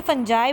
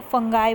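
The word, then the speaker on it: fungi: तो मैं यहाँ पे फंजाई बोल रही हूँ, कुछ लोग फंजाई को फंगाई बोलते हैं, ठीक है, तो ये अपने ऊपर डिपेंड करता है, लोग अपनी अपनी प्रोनाउंसिएशन के हिसाब से कुछ भी बोल देते हैं, तो आपकी मर्ज़ी आपको क्या बोलना है, फंजाई और फंगाई।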